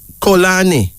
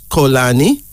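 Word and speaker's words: Xolani: Kolani, and it's spelled X-O-L-A-N-I, pronounced as Kolani. It is from the Xhosa of South Africa. A male name meaning please forgive. Kolani.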